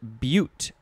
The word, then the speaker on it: butte: Next is butte, that's the pronunciation, B-U-T-E. And that is, it's pronounced the same as the very last word of this episode, but it's spelled a little bit differently.